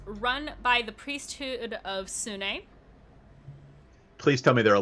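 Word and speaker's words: Sune: are religious know that sunni is i'm sorry sunni i believe is actually technically how it's pronounced is also known as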